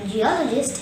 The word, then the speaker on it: geologist: come back to geologists the word geologist has four syllables g or a gist the second syllable all is stressed there is one showing this word hence the correct pronunciation will be geologist repeat after me geologist